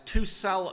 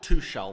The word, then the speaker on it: Tuchel: sure about that two it's two cell not two shell thank you for pointing that out two cell oh yeah but two shell sun's better i know so you don't pronounce the hate too so yeah but